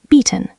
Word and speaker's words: bieten: Bieten, to offer, long e sound.